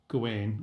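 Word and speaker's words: Gawain: even though we're not doing gain or Gowan or however you want to pronounce it both are valid yeah I I at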